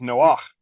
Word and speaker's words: Noach: And just to make sure that people don't get this mistaken for Noah, as in Noah of the Ark, Noah's real name is Noach.